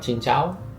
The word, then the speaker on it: Xin chào: Thank you: Cảm ơn (pronounced like "gahm uhn") Hello: Xin chào (pronounced like "sin chao") Bill (please): Tính tiền (pronounced like "ting tien) For the bill, you say "Tính tiền!"